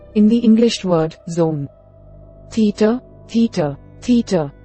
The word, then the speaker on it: theta: In ancient Greek, a more aspirated version of the T sound in the English word top. Think of making a T sound, followed immediately by a separate hard H sound, as in the English phrase hothead.